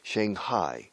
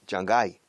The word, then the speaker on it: Shanghai: Shanghai. La H manda un poco aquí. En español la G manda. Shanghai. Shanghai. Gai. En inglés no. Shanghai. La G casi no se pronuncia en medio.